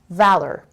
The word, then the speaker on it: valor: the a sound so valor and this is the our controlled sound er valor being surrounded courage